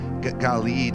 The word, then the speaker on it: Gilead: It says, is there no balm, B-A-L-M, in Gilead, G-I-L-E-A-D, Galeed is how they say it in Hebrew.